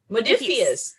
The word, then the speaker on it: Modiphius: I'm sorry, how do you pronounce this? Modiphius. Modiphius.